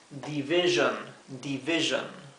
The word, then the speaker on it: division: La división es division. Fíjense que la S-I-O-N se pronuncia John.